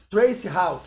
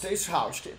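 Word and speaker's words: traceroute: Pronuncia isso aqui pra mim. Trace route. Trace route.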